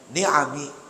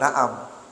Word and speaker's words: ni'am: diri hamba itu minan ni'ami, Bacanya ni'am bukan na'am. Kalau na'am itu binatang ternak, sapi, kambing, ya, onta, kerbau, itu na'am. Itu ni'am.